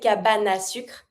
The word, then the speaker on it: cabane à sucre: Look at the way I say cabane à sucre. Because the E from cabane is mute and I have a vowel that follows, I can just connect it. So you're always going to avoid the E. You never say cabane, you say cabane, and you have the A.